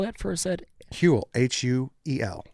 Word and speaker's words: Huel: Huel, H-U-E-L. Huel, like the dude from Breaking Bad.